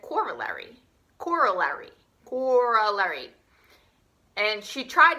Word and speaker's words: corollary: Now, Miss Bounty asked me, she said, how do you pronounce this word? And I said, corollary.